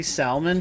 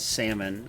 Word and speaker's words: salmon: fish book landlocked salmon some people say Salman for some reason the correct pronunciation is salmon I don't understand it